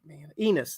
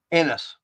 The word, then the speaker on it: Ennis: Enos, that's right. Ennis.